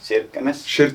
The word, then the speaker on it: Kirkenes: Kirkenes? Yeah, I always say that many Norwegians say like Kirkenes. Then many Finns would say just Kirkenes.